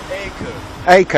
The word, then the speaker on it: Akko: survived here never it's beautiful what's the correct pronunciation for where we are at the moment a co yeah I so I know it so I